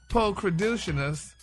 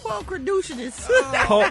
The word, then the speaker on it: pulchritudinous: definitely pulchritudinous to look at. Pulchritudinous. I want you to say it right one time before we. Pulchritudinous.